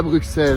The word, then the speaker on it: Bruxelles: Ok, tu sais quoi, regarde, Bixby, on dit Bruxelles ou Bruxelles? On dit Bruxelles, gros, t'es un malade à fou.